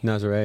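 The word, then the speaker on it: Nazaré: So Have you messed around with the, how do you pronounce it, Nazare? Nazare, yeah, In I've been there a few Portugal?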